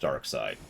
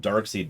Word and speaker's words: Darkseid: I know it's pronounced Darkside. They say it in the shows. I call him Darkseid because screw him.